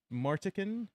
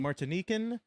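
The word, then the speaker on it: Martinique: Is that how you pronounce that? Gana. Uh Martikin. Martine. Martine.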